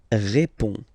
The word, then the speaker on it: réponds: Je réponds. Je réponds. Okay, so you can see that D and S here are not pronounced.